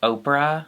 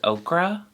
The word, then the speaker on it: Oprah: When I was a dumb child, I used to think Oprah was okra, and that everyone was saying it wrong.